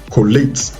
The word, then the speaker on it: collate: Okay, so the rule is that once it is a verb, 2-syllable verb that ends with ATE, then of course the ATE carries the stress.